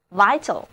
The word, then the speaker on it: vital: 一年四季，春天是最有生气的，因为经过了漫长的冬季，万物都复苏了，到处都是欣欣向荣的气象，充满了活力和生机。所以我们今天就要学习生命活力的词根，它们就是 VIT、 VIV、 VIG 和 VEG。首先，我们在 VIT 的后面加上 AL 这个形容词后缀，因为 VIT 表示生命，所以 vital 就是有生命的，充满生机的。因为生命是非常重要的，所以 vital 也可以引申为生死攸关的，极其重要的。这里的字母 I 要读作它的本音 I，而字母 A 在这里不发音 vital， vital。